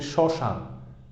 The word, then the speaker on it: শ্মশান: তবে যদি হচ্ছে প্রথমে থাকে, এই ম ফলা যদি হচ্ছে প্রথমে থাকে, যেমন আমি উচ্চারণ করি শ্মশান, তবে সেক্ষেত্রে কি হচ্ছে? এই ম ফলার উচ্চারণ হচ্ছে না, তবে ম ফলার উচ্চারণটা হচ্ছে নাসিক বর্ণ এর মতো হচ্ছে বা অ এর মতো হচ্ছে। এখানে নাসিক্য উচ্চারিত হবে, নাক থেকে উচ্চারিত হবে, যেমন আমি বলি শ্মশান।